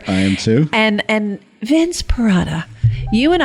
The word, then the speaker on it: Perrotta: Today we have Vince Perrotta. Perrotta, what the heck? It rhymes with a mozzarella.